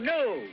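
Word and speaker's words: gnu: It's G-N-U, new. The G is silent.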